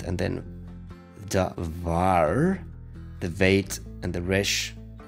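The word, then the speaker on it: דָּבָר: It's read as davar.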